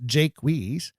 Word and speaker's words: Jaques: If he doesn't use 2 syllables, Jaques, it doesn't complete the 10-beat line.